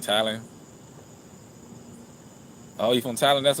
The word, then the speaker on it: Thailand: That's how you say it, Thailand.